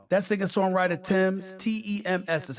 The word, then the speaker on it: Tems: how she has this how that second songwriter Tim's t-e-m-s is how she has this how they pronounce the name made a bold-fashioned statement at